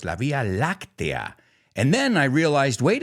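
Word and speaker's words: la Vía Láctea: on this week's episode and I used to mispronounce that word in Spanish I used to say La Villa but now I know it's La Via lactia and then I realized wait a second you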